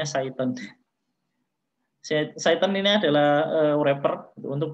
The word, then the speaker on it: Cython: Cython ini adalah, saya baru nyadar kalau ini bacanya Cython.